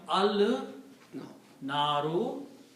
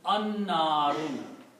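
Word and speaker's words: النار: so it will become al naru, but when you pronounce the noon here, noon will kill the sound of lam and it will become an-naru, the fire.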